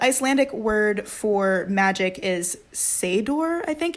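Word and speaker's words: seiðr: And so the Icelandic word for magic is seidor, I think. It's S-E-I, and then that like curly D looking thing. Yeah. The hard C. It's like a half D, half TH yeah.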